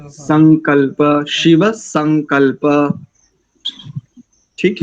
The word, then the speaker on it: संकल्प: शिव संग, शिव संग, दंत्य सकार है यहाँ पर। शिव में तालव्य और संग में दंत्य। संकल्प, शिव संकल्प।